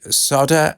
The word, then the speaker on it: solder: Anyway, in the UK, we say solder. And it's spelt solder, but I guess other people leave out the L.